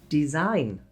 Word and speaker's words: design: Silent G works the same way, but before the N. No, you don't say the G. Sign, no G. Design, no G.